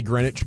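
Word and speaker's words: Greenwich: grenage is it grwi I think you say grenwich but it's spelled green witch grin oh anyway that's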